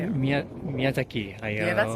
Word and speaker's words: Miyazaki Hayao: Miyazaki Hayao.